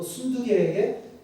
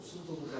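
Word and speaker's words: 순두게: 또 순두개에게 권합니다. 저는 이 발음 아까 1, 2, 3부 때 고생했어요. 순두부가 자꾸 나와가지고 순두부가 아니라 순두개.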